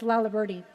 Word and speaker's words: Laliberte: name was really intimidating as to how to pronounce. So I'm proud of myself that I actually know it's Laliberte.